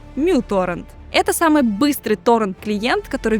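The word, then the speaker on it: µTorrent: Это 25-летний гражданин Швеции Людвиг Стригиус, и именно он в одиночку создал всеми известный зеленый торрент-клиент uTorrent, или, как оказалось правильно говорить, muTorrent.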